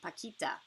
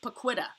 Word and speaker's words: Paquita: stuff out princess Brock you rock did you spell it wrong uh technically I do remember the spelling it is p-a-q-u-i-t-a Paquita looks like Paquita but it is not it is Paquita very